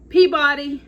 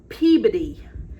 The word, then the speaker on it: Peabody: So the first word, I would say that is Peabody, but I was told that is Peabody. So I have never heard Peabody spoken as a Peabody, but that's what we found out.